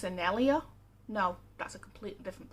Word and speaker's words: Sennelier: white night student grade stuff i think it's pronounced sennelier no that's a completely different plan i've got